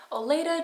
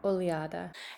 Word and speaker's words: Oleada: just a quick note unfortunately I do mispronounce the brand in this video it's closer to oada and I really cherish